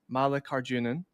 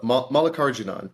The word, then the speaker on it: Mallikarjunan: Unfortunately, I have been practicing Sam Mallikarjunan. Is that correct? So no, Mallikarjunan. You just put the emphasis on the wrong syllable.